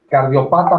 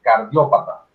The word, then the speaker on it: cardiopata: Víctor, cardiopata no se dice cardiópata.